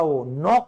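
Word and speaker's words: knock: silent है knowledge खटखटाना नोक करना कनोक नहीं होता वो नोक होता है ठीक है तो के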